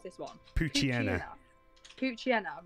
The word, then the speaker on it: Poochyena: Poochyena, right, I've been pronouncing that wrong then.